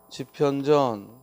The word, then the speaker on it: 집현전: 그래서 집현전을 로마자로 옮기면 분명히 발음하면 집현전 하고 추격 일어나서 피어 b 되겠지만 이걸 로마자로 옮길 때에는